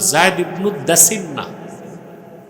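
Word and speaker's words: زيد بن الدثنة: জায়েদ ইবনদাসনা হাদিসে আসছে ফাতহিদা জায়েদ ইবনুদ্দা দাসিনা বুঝলেন পুরা উচ্চারণটা হচ্ছে জায়েদ ইবনুদ্দাসিন্না একজন সাহাবী ছিলেন ওনাকে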